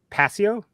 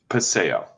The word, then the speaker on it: Paseo: print shop in how do you say that passio paseo arts district arts district thank you for the